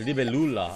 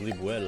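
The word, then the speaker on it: Libélula: Oh, it's Libelula. I thought it was Libuela.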